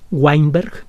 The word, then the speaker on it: Weinberg: universo de stephen veinberg se escribe con w la primera letra de su apellido es una w weinberg ganador del premio nobel